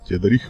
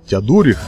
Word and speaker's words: Теодорих: Напоминаю, что самым великим королем Устготов был Теодорих Великий, который создал очень серьезную державу, фактически объединив Вестготское и Остготское государства, потому что, ну, на момент игры, поскольку Теодорих уже умер, ну, вообще правильно называть Теодорих, я прошу прощения, опять же, за неправильное ударение,